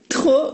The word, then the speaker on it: trop: And at last, trop with a silent P means too much, or too many.